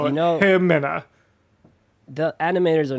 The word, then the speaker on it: Ximena: It's Ximena, but the X is an H in that dialect, so Himena.